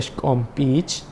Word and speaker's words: Xkumpich: Xkumpich, que también fue traducido como árbol de la hondonada, y cuya pronunciación en este caso sería Xkompich.